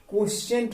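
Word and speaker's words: quotient: अब इसको लिखा है क्विटेंट लिखा है, मतलब इसका प्रोनाउंसिएशन करेंगे क्या, क्वोशिएंट रूल।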